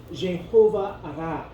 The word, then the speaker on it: Jéhovah-Raah: le nom de Dieu, Jéhovah Ra. C'est Jéhovah et ensuite Ra, ça s'écrit R-A-A-H.